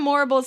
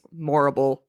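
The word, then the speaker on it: Morrible: Her name's Morble rhymes with horrible like there's no high and she has the connections with the wizard and all that.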